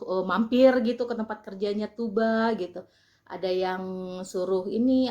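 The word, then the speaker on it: Tuğba: Vicky Naki dan Tuba Tuba ya bukan tukbah karena huruf G yang pakai komanya itu dibaca tidak tidak terdengar gitu sekilas doang gitu kayak dia lemah gitu jadi bacanya Toba Kalau kayak Erdogan juga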